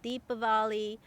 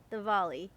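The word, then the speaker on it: Diwali: the I know it's there's a w in there it's confusing but it's actually pronounced more with a V like deepali or the volley V is invictor so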